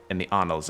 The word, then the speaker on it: annals: I remember seeing the word annals for the first time, and I thought it said anals, or thought I pronounced it anals, and I was brutally